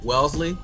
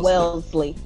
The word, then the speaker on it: Wellesley: the wesley college all-female school uh very liberal wellesley is that what would happen what did i